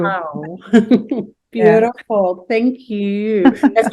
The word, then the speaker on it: Michal: Actually, you say Michal in Hebrew. Michal.